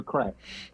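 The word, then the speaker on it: craic: I go over for the crack as it's spelled in Irish.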